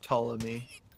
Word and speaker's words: Ptolemy: No, I looked up the pronunciation for it. I can post it in the battle chatter. Yeah. It's just Ptolemy.